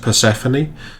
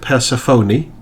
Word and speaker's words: Perséphone: There's a typical English way, which is just Perséphone. There's the Greek way, which, although my Greek is very bad, is along the lines of Persephone. And then there's the way it's actually supposed to be spelled and pronounced, which is Persephone.